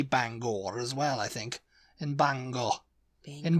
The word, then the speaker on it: Bangor: uh the next one is banga Banger in Maine yeah say Banger apparently it's Bangor Bangor yeah Bangor bang and it's